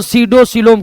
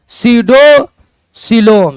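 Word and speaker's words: pseudocoelom: और मिथिया देगुआ को मिथिया देगुआ को सडोसिलोम कहते हैं। क्या कहते हैं? सडोसिलोम। सडोसिलोम में पी साइलेंट रहता है।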